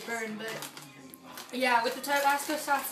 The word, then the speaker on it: Tabasco: My tongue is like, it's hot, but it's not as hot as I expected with the tobacco. These are good. How do you say that? Tabasco. Tabasco.